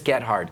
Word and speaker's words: Gethard: 2010, Diddy said um who is Chris Gard? Cuz that's what my name spells out phonetically. That's the word. Gard is phonetically that.